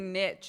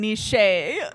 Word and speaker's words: niche: that I it's fine I don't think I've ever heard somebody say niit it instead of Niche that was a trap make it rhyme with cliche just for fun yes